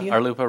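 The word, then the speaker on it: RLUIPA: robert collier brought up the word lupa arlupa rhymes with chalupa yeah yeah there you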